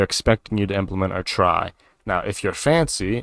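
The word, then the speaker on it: trie: a optimized binary tree known as a try it's spelled t-r-i-e it's the most common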